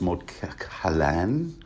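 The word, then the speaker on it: Moat Cailin: square and mod kale mod Kin I'm told it's actually pronounced M Khan I read that somewhere in the wiki ice and fire but yeah you're going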